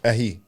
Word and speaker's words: Ehi: Ehei.